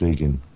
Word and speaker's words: Igan: pronounce it correctly yeah it's Egan it's actually the original Irish spelling of Ian oh right well we